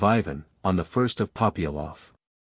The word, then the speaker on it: Ivan: from the chernof government the accent falls on the second syllable of Ivan on the first of